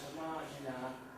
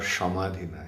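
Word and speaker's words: समाधिना: It's not Shamadhina, it's Samadhina. Sa.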